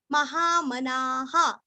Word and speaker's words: महामनाः: अच्छे से करना है, महामनाः, अभी यहाँ पे ना पूरा बोल के विसर्ग का उच्चारण हा बोलना है, ना को थोड़ा सा दीर्घ करना लेकिन हा को नहीं करना, महावराहो सॉरी वेदा स्वांगो